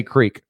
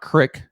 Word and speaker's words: creek: Frank asks us, how do you say creek? Exactly how it's spelled. Creek. Creek? It's not crick. Creek? It's creek.